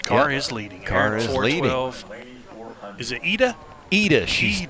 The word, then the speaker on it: Ida: is leading is it AAA she she told me it's pronounced AA Carlson yes from Sweden she and